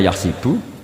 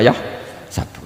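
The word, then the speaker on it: يحسب: Karena dalam qiraah sab'a ada yang baca yahsibu, qiraah kita baca yahsabu. Tapi guru-guru kita kalau ngajar fikih itu bacanya yahsibu. Tapi kalau baca Quran yahsabu. Ya kan Quran kita kan ayah sabu Allah yaqdiru alaihi ahad, bukan dibaca ayah sibu.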